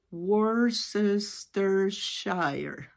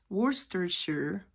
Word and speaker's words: Worcestershire: Worcestershire. Porque así sería la pronunciación de acuerdo al inglés americano. Pero esta es una palabra que viene directa del inglés británico.